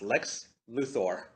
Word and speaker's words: Lex Luthor: okay yeah and in that entire show it's pronounced Lex Luthor and I just I wanted to hug my